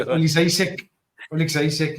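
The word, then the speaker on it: Oleksiejczuk: Okay, Olishek, yeah, that's how you say it.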